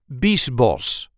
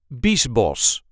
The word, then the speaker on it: Biesbosch: the way we say Beast boss Beast boss there is a light emphasis on the first syllable Beast boss Beast boss Beast boss in this case the CH is just pronounced as an S I hope this video